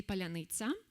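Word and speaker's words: паляниця: Palanita in Ukrainian language means uh like ro bread and ro of bread and Russian simp simply cannot pronounce it cor correctly. Even Ukrainian Russian speakers can pronounce it correctly and say palanita but Russians cannot like uh use this soft and hard syllabus to together at all.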